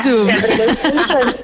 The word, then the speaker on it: Tatum: Y Channing Tatum, si se pronuncia así, no estoy segura. ¿Cómo? Channing Tatum. Ajá, sería, Tatum.